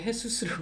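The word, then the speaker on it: Jesús: 그래서 이거 왜 헤수스라고 그러지? 헤수스라고 하지? 근데 이거를 알고 공부를 해보니까 Jesus. 그래서 헤수스구나. 그래서 J를 호따, 히읗 발음이 된다.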